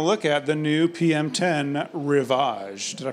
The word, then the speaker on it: Rivage: are going to look at the new pm10 revage did I pronounce that right you did yes so very